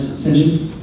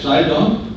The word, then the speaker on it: Sidon: Did you come across Lance St. John? Lance St. John? No, sorry. Sorry, I said it wrong. Lance Sidon?